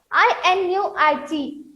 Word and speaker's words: Inuit: So, I-N-U-I-T, Inuit. I is silent here.